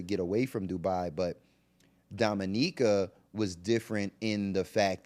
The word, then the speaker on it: Dominica: Dominica and not the Dominican not the Dominican Republic it is pronounced Dominica that's how the locals pronounce it and it's a small